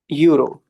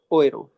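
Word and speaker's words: Euro: वह चलती है यू रो बट उसको प्रोनाउंस कैसे करेंगे? ओए रो कैसे प्रोनाउंस करेंगे? ओए रो मैं लिख देता हूं। ओए रो है ना? कोई जा रहा होता है ना उसे पीछे से आवाज देते हैं।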